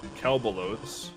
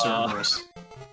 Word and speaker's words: Cerberus: It's Cerberus. So we're going to Kelbalos. Yeah, in Greek you pronounce the L as an R, so it's just Cerberus.